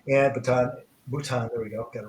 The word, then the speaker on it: Bhutan: year ago I don't if you remember that batan and batan Bhutan there we go got it right can't pronounce it that's why I couldn't go but